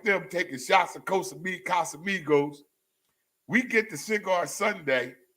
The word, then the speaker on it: Casamigos: me taking shots of Costa Miga am I saying it right casamigos so I started taking